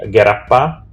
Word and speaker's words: g3rappa: Okay, so uh, The correct pronunciation should would be Gerappa, and it doesn't have any meaning.